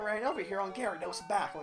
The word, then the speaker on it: Gyarados: The adult Pokemon trainer with brown hair and no sleeves, wearing a blue shirt, said, "I ran over here on Gyarados' back."